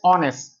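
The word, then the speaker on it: honest: ये जो वर्ड है इसमें एच साइलेंट होता है। इसको हम पढ़ते हैं ऑनेस्ट। ऑनेस्ट ओ का साउंड है। यानी वोवेल साउंड है।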